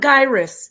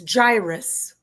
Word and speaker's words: gyrus: It's by the way, it's not gyus. It's gyrus.